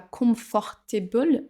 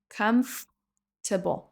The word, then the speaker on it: comfortable: On dit pas comfortable mais on va sauter la deuxième syllabe et ça nous donne comfortable. Comfortable comme si le OR n'existait pas.